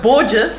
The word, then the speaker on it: Borges: And his name is Celso Borges. He says his surname rhymes with gorgeous.